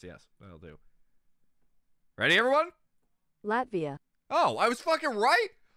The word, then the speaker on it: Latvia: internet internet how do I say how to pronounce yes I'll do ready everyone Latvia oh I was right holy